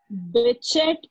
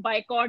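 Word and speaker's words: Bichat: Was given by दी बिचेट, और इसका pronunciation जो है वो कुछ लोग बाइकॉट भी करते हैं, ठीक है। लेकिन आपको Yes, ma'am. बिचेट के नाम से ही याद रखना है, ठीक।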